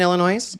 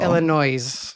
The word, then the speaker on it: Illinois: Um, you grew up in Illinois? Yes. Illinois. Yeah. Is it not? Is it not Illinois? Illinois. Illinois. Illinois. Some people say Illinois. Illinois. Illinois. S is silent.